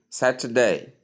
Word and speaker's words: Saturday: Simply say Saturday, Saturday, Saturday. The middle vowel is soft, but it's pronounced.